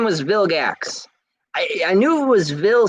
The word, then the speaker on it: Vilgax: his name Ben ten villains Vilgax it was Bill gacks right Vilgax his name was Vilgax I knew it was Vil something I just